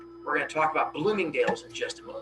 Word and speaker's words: Bloomingdale's: back then so we're going to talk about bloomingdale's here in just a moment that's exactly how you pronounce it page 20 is where we get